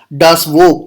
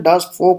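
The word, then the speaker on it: Das Volk: एक term use किया, डास वोक। तो अगर आप इसको इंग्लिश में पढ़ेंगे तो आप इसको डास वोक पढ़ेंगे, लेकिन जर्मन में इसका प्रोनाउंसिएशन डास फोक हो जाता है।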